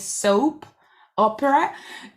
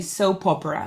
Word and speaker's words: soap opera: again the pronunciation is soap opera but we kind of read the two words together so we say soap opera like it's one word only soap opera okay a a soap